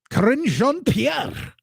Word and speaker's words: Karine Jean-Pierre: But Deucey asking those questions that I think are worth answering from KJP Karine Jean-Pierre. That's how you say it, the French accent.